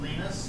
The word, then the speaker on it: Linus: Later saying that his name is pronounced Linus, however the operating system can be pronounced any way that's proper in your locale.